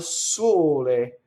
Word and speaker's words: sole: So now here's another example of the word for sun is closed, right? So you'll see it as sole, it's full word. You'll see it with the end chopped off, sol, right? Now if you were to open the O, it's the musical note G, sol, right? So al sole, closed.